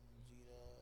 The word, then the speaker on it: Jira: एक ऐसी और आता है जीरा, सॉरी ZERA था क्या था, नहीं जे से है शायद, जीरा, वही जीरकपुर, नाम स्पेलिंग बोल रहा हूँ जीरा, JIRA, हाँ।